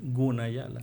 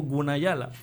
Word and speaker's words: Gunayala: de que ellos dicen, "Se escribe con G, pero se puede pronunciar con K, ¿verdad? Pero no hacen énfasis." Allá voy. Cuando escuché a la diputada que que propuso la ley dijo Gunayala.